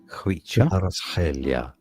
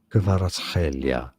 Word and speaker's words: Kvaratskhelia: In the original language, it sounds like Khvicha, Kvaratskhelia, Kvaratskhelia.